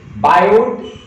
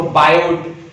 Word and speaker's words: Biot: बायोट टी आता है उसमें, वैसे टी साइलेंट होता है, लेकिन हम आई स्पेशली बिलोंग्स टू हरियाणा ना, तो हम किसी चीज को छोड़ते नहीं है। अब टी आया ना तो हम बोलते हैं उसको, तो बायोट, वैसे एक्चुअल प्रोनाउंसिएशन उसकी होती है बायोट, टी साइलेंट होता है उसका, है ना, लेकिन हम